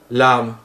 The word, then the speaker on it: làm: Si je le prononce à la française, ça va faire lame, lame. En vietnamien, lame. Vous voyez, c'est quand même très proche. C'est dans l'accent en fait que ça change. Mais si vous le prononcez le A comme on le prononce en français, on vous comprendra, ce qui est vraiment l'essentiel.